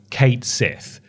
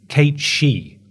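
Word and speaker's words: Cait Sith: pronounce this character's name for the longest time I thought it was Kate Sith apparently that's not right it's Kate she if you're pronouncing it the Irish way but we're going to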